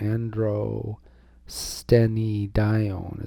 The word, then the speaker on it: androstenedione: And it can also be converted lickety split into androstenedione. Androstenedione is how I always learned it. It's also pronounced androstenedione.